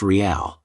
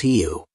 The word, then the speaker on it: real: While the English alphabet might suggest it's pronounced real, the correct pronunciation is heu.